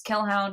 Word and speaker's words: Kelhound: And I'm on Twitter as Kelhound, which is spelled like Hellhound, but with a K.